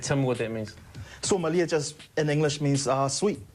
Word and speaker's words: Suamalie: How do you pronounce the new single? Suamalie. And tell me what that means. Suamalie just in English means sweet.